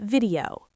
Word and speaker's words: video: I need to upload this video. Deep dive. Upload, stress the first part, upload. Video, the stress is on the vi.